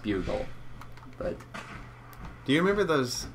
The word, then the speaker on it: Bugle: we get there then don't remember the Boston boggle building yes I know it's pronounced bugle but do you remember those chips Putte the